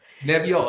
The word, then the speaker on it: Nebbiolo: That exact the Nebbiolo, and I was going to ask you how to pronounce that. Nebbiolo, it's awesome.